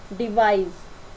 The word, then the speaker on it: devise: आपको क्या ध्यान रखना है, जब भी एस से पहले और बाद में आपके पास वावल साउंड आता है तो इस वर्ड की प्रोनाउंसिएशन आप जैसे करते हो, लेकिन यहाँ पर क्या देखो DEVISE, डिवाइस। अब यहाँ पर भी आपका वावल है और यहाँ पर भी वावल, तो ये जय का साउंड देगा ना कि से का।